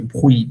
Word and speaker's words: bruit: এই টিটা কিন্তু বলা যাবে না, এই টিটা বলা যাবে না, ভুই সাউন্ড হচ্ছে nous, ভুই, পেইজো nous faisons bruit, ভুই, এক্স্যাক্টলি।